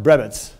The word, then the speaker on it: Brabeck: Okay, it's spelled Brabeck, but pronounced Brebitz.